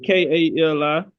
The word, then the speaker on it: Kali: Oh, Kali. I thought you said Ali. Kali, like the Hindu goddess. The Hindu goddess. Yeah, Kali.